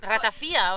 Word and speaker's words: ratafía: Ay, ratafía o ratafia. Es primero, ¿cómo se pronuncia? ¿Cómo se pronuncia? Ratafía. Ratafía, vale. Rata, bueno, si lo digo con acento de Girona, es ratafía. ¿Sabes?